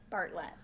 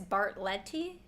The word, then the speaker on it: Bartlett: Wait, is Bartlett or Bartlett? Bartlett, like the pear. Like the pear. Have you been saying it wrong this whole time? I've been saying Bartlett. Some people think it's Bartletti.